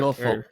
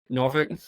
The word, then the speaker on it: Norfolk: Norfolk. Yeah. Wait, how do you say it? Norfolk. Oh, you do say it like that. Everyone says, Yeah. If you're from Norfolk, you say Norfolk.